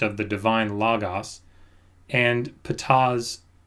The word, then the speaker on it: Ptah: Is there any plausible connection between the Jewish Christian concept of the divine Logos and Ptah's... Is that how you pronounce that? Ptah? Yeah, Ptah. Okay. Just Ptah.